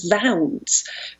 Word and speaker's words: zounds: put in um but there is this tendency to pronounce zoons as Zounds because that original link with the idea that you are blaspheming on God's wounds from the crucifix has lost its power and its meaning there